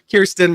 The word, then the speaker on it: Kirsten: Did I mispronounce it? I sure did. Kirsten, not Kristen.